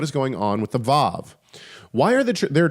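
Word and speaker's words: וָו: to English today um it is believed by many scholars that the VAV used to be pronounced with a W sound so it would be WoW instead of VAV whereas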